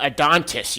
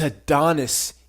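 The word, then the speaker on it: Adonis: even pronounce words uh a dontis you kept saying a dontis a it's a Donis you idiot um first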